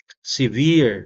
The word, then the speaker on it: severe: But we cannot make use of the contraction forever on the word severe because the stress is on the second E.